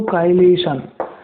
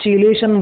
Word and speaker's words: chelation: काइलेशन, CHELATION, काइलेशन इसका pronunciation है। लोग चिलेशन बोलते हैं, तो यू can call it एज चिलेशन और काइलेशन। काइलेशन बोलते हैं बेसिकली इसको, असली प्रोनाउंसिएशन काइलेशन है।